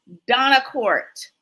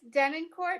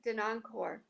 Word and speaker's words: Denoncourt: It's Denoncourt, but you know, in Canada, they actually pronounce it Denoncourt.